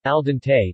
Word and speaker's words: al dente: in cooking al dente Italian pronunciation al dente describes pasta or rice that is cooked to